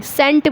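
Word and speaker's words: cent: अगर मैं सीएनटी लिखूं तो इसको कैसे बोलेंगे सेंट बोलेंगे यहां पर इसको कैंट नहीं बोला चाहे तो यहां पर सेंट बोला जाएगा तो इस चीज को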